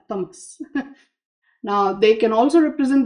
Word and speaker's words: tamas: These are also known as the three gunas or qualities of sattva, rajas, and tamas. Sorry. Ah, get caught up in the English pronunciation. It's sattva, rajas, and tamas.